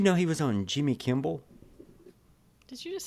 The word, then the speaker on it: Kimmel: uh did you know he was on Jimmy Kimmel did you just say Kimball did I probably because I I am a